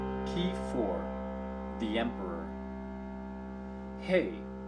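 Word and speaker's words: ה: Hey, H as in honor, or E, value 5, is pronounced hey.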